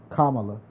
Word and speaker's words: Kamala: that trickers me but yeah that was politics Camila Harris versus what's his face that was the first thing I've seen when I opened up my Facebook Kamala I'm sorry not Camila see what I'm saying